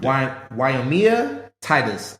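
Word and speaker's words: Wyomia Tyus: more time she earned the respect she earned wyomia Titus I just want to make sure it may not be pronouncing it right guys but her name is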